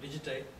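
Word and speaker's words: Digité: I'm co-founder and a senior vice president of product at a company called Digitay. That's how that E is pronounced.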